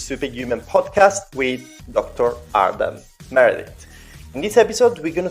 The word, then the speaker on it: Meredith: First of all, I always ask this question because I know I pronounce everyone's name wrongly. So, Dr. Adam Meredith, am I correct?